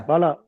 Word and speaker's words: Bala: Yeah, Bal, yeah, Bal, Bal, how do you say your Yeah, name? Yeah. Bala. Bala, Yes. yes, Bala.